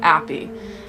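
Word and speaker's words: Appi: So they changed it to A-P-P-I, Api, or Appy, as it's commonly pronounced in English.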